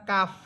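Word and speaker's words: ق: পার্থক্য পেলাম সেটা হচ্ছে কাফ এটা চিকন হরফ কফ এটা মোটা হরফ তাহলে উচ্চারণটা কি হবে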